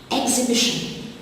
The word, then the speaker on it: exhibition: Exhibition, the silent letter is the H after the X.